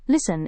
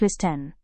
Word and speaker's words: listen: It is pronounced as listen instead of listen.